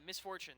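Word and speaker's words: Miss Fortune: how do you say her name Misfortune yeah Misfortune thank you um push the marville with Misfortune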